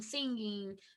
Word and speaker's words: singing: Então é dancing, jumping, tem o som do N no final, tá? Então, singing, swimming, jumping, dancing, a gente não pronuncia o G, tá bom? Não é dancing, jumping. Não. É como se o G não existisse ali.